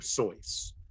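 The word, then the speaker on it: Seuss: within a line uh Dr soy oh no which is how you actually pronounce his name okay so according to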